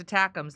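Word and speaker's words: ATACMS: so much those missiles acronyms are pronounced attacks that's from Sparky I read it again Sparky how's it going spark attacks it's like stum attacks hey Steph we sent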